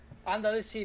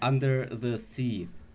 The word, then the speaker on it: UNDAtheC: with UNDAtheC, I do not know how to pronounce his name. Simone Cicconi, sound designer of Freejam. Say hello. Hello, under the sea, by the way. Okay, under the sea.